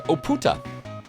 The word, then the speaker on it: Oputa: The party presses on to Oputa. Emphasis on the second and third syllable.